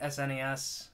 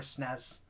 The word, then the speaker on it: SNES: however you pronounce it I've always pronounced it SNES or snez one of the other I kind of flipped back and forth between the two so this is actually